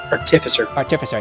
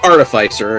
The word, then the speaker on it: artificer: Artificer, yeah. Or artificer is also an acceptable pronunciation.